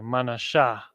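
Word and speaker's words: מנשה: of the Cuban or it's like a manasha ma na Sha Cubans so-called Cubans and again in the ancient Hebrew that is ma and then na and then Shah with the ha at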